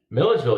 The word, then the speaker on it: Milledgeville: So we go from Atlanta to Oxford, and then we've already discovered that the overnight town is it pronounced Milledgeville? Milledgeville, yeah.